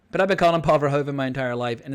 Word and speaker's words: Paul Verhoeven: I know some people call him Paul Verhoeven with the emphasis on the first syllable, and my friend Matthijs van der Roos, who's actually from the Netherlands, tells me that the correct pronunciation is Paul Verhoeven.